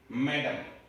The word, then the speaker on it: mesdames: इसका प्रोनाउंसिएशन है मेडाम। ध्यान रखना है, प्रोनाउंसिएशन बड़ा अजीब है स्पेलिंग के अकॉर्डिंग।